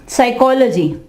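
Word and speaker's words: psychology: साइकोलॉजी, साइकोलॉजी, साइकोलॉजी, साइकोलॉजी, ठीक है। ये नफ्सियात को कहते हो साइकोलॉजी। यहाँ पे पी जो है वो साइलेंट होगा, साइकोलॉजी, ठीक है ये दोस्तों।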